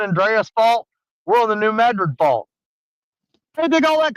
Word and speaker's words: New Madrid: you folks New Madrid I call it New Madrid everybody around here calls it New Madrid but you pronounce it